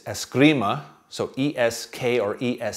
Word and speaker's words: Eskrima: assuming Escrima which is another Spanish word poorly pronounced as Grima es g RI ma in tagalog it's Escrima so es que or es c RI ma